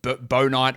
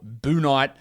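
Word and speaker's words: Bouknight: in the draft because it's definitely not book night it is absolutely bow night or boo night book night is a horrendous pronunciation but that's what he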